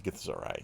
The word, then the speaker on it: Githzerai: I think it's Githzerai is the proper way to pronounce it.